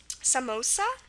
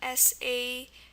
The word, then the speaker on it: samosa: at some examples um Samosa there's two of them s-a-m-o-s-a Samosa two s's and my own name